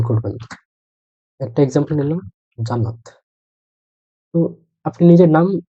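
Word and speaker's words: Jannat: হল ওরা শুরুতে বুঝতে পারবে যে আপনার নাম ইয়ান্নাত কিন্তু আপনি যদি এটা বেশ কয়েকবার তাদেরকে মনে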